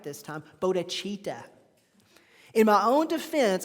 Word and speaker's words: bodhicitta: I'm going to try to say it right this time, bodhicitta. In my own defense, I found a pronunciation of bodhicitta and bodhicitta, so there.